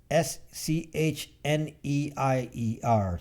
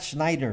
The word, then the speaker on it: Schneier: SCHNEIER, something like that. The book in cybersecurity, not Schneider, Schneier. Take off the last DE. He's not Schneider, it's Schneier. Schneider without the DE at the end.